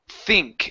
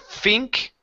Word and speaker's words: think: and your teeth teeth so it's think instead of Fink think think good I think this is the start I think this is the start i use your tongue for those THS so think this is